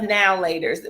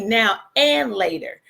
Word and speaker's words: Now and Later: Well, we call them now laters, but I Googled it this morning to make sure I was saying it right, because I'm used to saying now later, but it's really now and later.